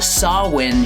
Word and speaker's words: Samhain: So let's get into chapter three which is titled Sawin Shunyata or if you're going to pronounce it wrong Sam Hayne Sanata.